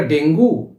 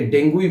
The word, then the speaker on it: dengue: বিশেষজ্ঞরা বলছেন এটি একটি স্প্যানিশ শব্দ থেকে এসেছে, তাই এর অরিজিনাল উচ্চারণ হওয়া উচিত ডেঙ্গি। আবার অনেকের মতে হচ্ছে DENGUE যে বানানটা আমরা লিখছি, সেখানে শেষের ইটা সাইলেন্ট থাকে, তাই এটাকে ডেঙ্গুই বলা চলে। তবে ডেঙ্গির দিকেই কিন্তু পাল্লা ভারী, তাই ডেঙ্গি উচ্চারণটাই যথাযথ বলে বিবেচনা করবেন।